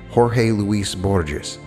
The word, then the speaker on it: Jorge Luis Borges: If I pronounce the Spanish correctly, it's Jorge Luis Borges.